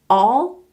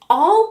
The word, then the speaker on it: all: to hear the difference all all all whole ho hole all like ball and whole like Bowl you go bowling good nice